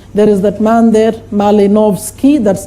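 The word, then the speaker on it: Malinowski: diffusion ism functionalism there is that man there malinovski that's how you pronounce structural functionalism of braun structuralism there is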